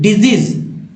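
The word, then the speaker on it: disease: एस को दो तरह से पढ़ते हैं, एक स एक ज, लेकिन यहाँ पर दोनों जगह इस वर्ड मीनिंग में दोनों जगह ज उच्चारित हुआ है, उच्चारण हुआ है। डिजीज, डिजीज।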